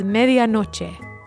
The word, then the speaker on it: medianoche: The Spanish word for midnight is medianoche.